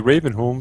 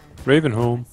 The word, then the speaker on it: Ravenholm: Ravenholm. Ravenholt hedder det ikke det? Jo, men det udtales home. Home? Ja.